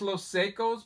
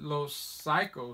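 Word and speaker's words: Los Psychos: these guys those cycles I thought it was little psychos but I watched a video of these guys talking and they pronounced it low psycho so and it's their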